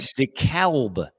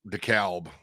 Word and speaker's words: DeKalb: What do you know about DeKalb, Illinois? I think that's pronounced DeKalb.